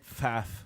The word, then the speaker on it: Pfaff: Pfaff with a silent P.